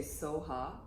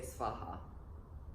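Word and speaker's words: svāhā: last word so ha the Tibetans didn't don't have a V in their language so it's difficult for them to pronounce V so you can say so ha or some people say Spa ha both are fine and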